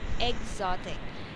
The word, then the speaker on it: exotic: of these vowel sounds the pronunciation of X there is egg okay exotic so just like for